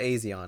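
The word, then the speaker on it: A'zion: Yeah, Odessa Odessa Aison, I think it's pronounced, but yeah, Odessa Aon.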